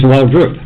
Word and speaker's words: Waldroup: Well, I mean, I ain't even saying your damn name wrong. I'm sorry. Because when I see it, I just go Waldroup. It's Waldroup.